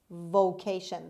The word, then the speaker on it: vocation: dorindo is my vocation vocation the stress is on the second syllable on k sound on c channel vacation vacation vocation means profession occupation business